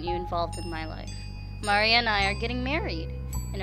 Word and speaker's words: Maria: involved in my life mari and i are getting married and I'm of oh you're coming no stupid excuses so that's a thing did you say Marya it's Maria Maria Maria Maria hey whatever it's